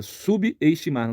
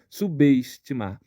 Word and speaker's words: subestimar: pausa subestimar sub subestimar o b ele ele ganha uma força Ele ele perde a força do de ser mudo no prefixo ganha uma força de início de sílaba logo aqui aqui também nessa palavra ocorre um erro de separação silábica o b mudo ele se une à vogal da sílaba seguinte então subestimar número três transtorno transtorno